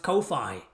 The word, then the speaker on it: Ko-fi: It shouldn't need to be stylized as Kofi because fi everybody says everybody says I. It's like wifi. Nobody says wify, right? Everybody says wifi, right? So kofi should be pronounced kofi.